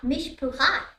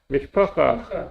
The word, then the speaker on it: mishpacha: Yeah, Ah, Mishpucha. Mishpacha, yes, I know Mishpucha.